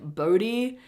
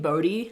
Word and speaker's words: Bode: So the name the name 'Bode', like, verbally, is the Scandinavian spelling, so Denmark, Sweden, Norway, Finland, I think, which is "B-O-D-E". But in English it's pronounced 'Boh-dee".